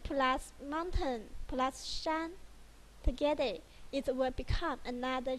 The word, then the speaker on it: 山: The pronunciation of this one is shān.